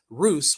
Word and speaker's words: Rus: the lands of the Roose the word Roose derives from the old East Slavic word and I'm G to spell it for you p y CB that's cilic which which reads as Roose when you convert from